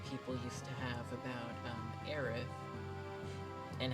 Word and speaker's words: Aerith: not Kitchi, it's K5th, it's not Eris, it is Aerith.